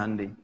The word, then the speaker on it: Hyundai: ya Korea bikin hundai Hyundai bacanya hundai kemudian sana masuk Piala